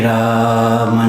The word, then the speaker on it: राम: Shri राम जय राम जय जय राम। Shri राम जय राम जय जय राम। Shri राम जय राम जय जय राम। Shri राम जय राम जय जय राम। Shri राम जय राम जय जय राम।